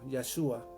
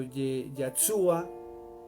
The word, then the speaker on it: Yeshua: Yo lo pronuncio en hebreo, Yeshua. Algunos le dicen Yeshua, pero Yeshua trae otra H, y